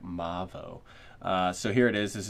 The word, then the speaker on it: MAVO: And yes, I asked them the pronunciation, and they said Mavo.